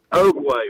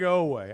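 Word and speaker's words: Oweh: Oakway, right? Oakway. Am I saying it right? Otega Oway.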